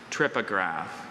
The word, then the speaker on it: trypograph: Trypograph.